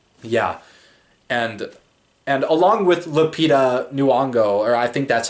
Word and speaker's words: Lupita Nyong'o: the Oscars and yeah and and along with Lupita Nyong'o or I think that's how her name's pronounced but that movie us I didn't see